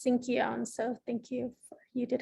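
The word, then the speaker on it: Sinkyone: Yes, it's Sinkion, so thank you. You did have that pronunciation correct.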